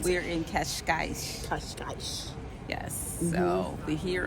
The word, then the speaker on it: Cascais: We're in couscous. No, just kidding. That's not what it's called. I just can't. I'm horrible at pronouncing things, so I'm going to let Kelly pronounce We're it. in Cascais.